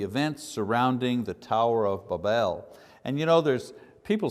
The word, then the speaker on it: Babel: There's a million ways to say it, but I've looked at the phonetics of it, and the phonetics say the pronunciation should be B-A-W-B-E-L, so Babel.